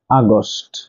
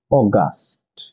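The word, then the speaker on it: August: ইউ এস আমরা ভুল উচ্চারণ করে বলে থাকি আগস্ট কিন্তু এর সঠিক উচ্চারণ হচ্ছে অগাস্ট অগাস্ট নাম্বার টন এই পি আর আই এল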